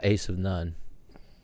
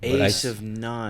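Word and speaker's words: Asivnon: that's how it's pronounced as in Jack of all trades Ace of none a of none I spelled it a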